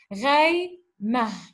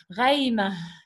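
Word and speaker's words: غيمة: We pronounce it like ha at the end because there is a punctuation mark. So, tarsumu ghada ghayma.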